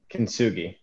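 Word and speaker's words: kintsugi: and i'm going to correct you just so you know kenzugi so with the hard g so kitsugi is an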